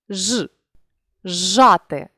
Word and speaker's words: зжати: дорівнює свистячий милує сям візьмімо слово зжати у цьому слові свистячий плюс шиплячий дали у вимові шиплячий подовжений зе Та ж у вимові ж жати також якщо перед шиплячим